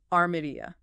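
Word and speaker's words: Almería: They like to swap an L for a softer sound. Oh, really? Yeah. Almeria becomes Armeria. It's pretty different.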